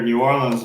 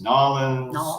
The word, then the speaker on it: New Orleans: And you'll hear New Orleans is pronounced about 3 or 4 different, even from different places in Louisiana. It's New Orleans. New Orleans. Nolans. It's like everywhere you go, that's wrong. We don't say it like that, but just travel, 50 miles down the road and they're going to say it different.